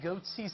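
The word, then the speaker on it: Goatse: He named his company Goatsy Security, so if you know what Goatsy is, G-O-A-T-S-E, I'm not going to explain it.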